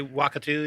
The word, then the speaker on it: Wakatu: They did that with Wakatu or whatever. How are you guys? How would you pronounce that, John? I would say Wakatu, yeah.